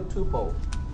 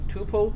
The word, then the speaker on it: tuple: So the question is, if I have a tuple, okay, let me just. And by the way, you can pronounce it as tuple or tuple. You know, it means the same thing.